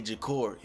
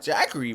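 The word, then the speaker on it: Jacorey: saying jackary bro like j a c o r e y I say jakori I'm black F so I I'd be like jakori yo jakori that sound like like that sound like the proper way to say bro name that's why I keep that's why I keep calling him bro cuz bro keep saying jackary like bro his name not jackary bro it's jakori now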